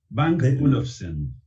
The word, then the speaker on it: Bang & Olufsen: A mí me cuesta pronunciarlo, Bang o Olufsen, ¿no? Mirá, yo te digo porque un amigo tenía una gran afición por las cosas. Bang Olufsen. Bang Olufsen, ahí está, así como se debe pronunciar, ¿no?